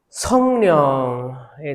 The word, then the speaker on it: 성령: 영인데 이제 그 발음 때문에 령으로 된 거잖아요. 성령, 리을로 된 거예요. 원래 영인데 성령 하는데 이제 이음이 2개 붙어 있으니까 령으로 된 겁니다.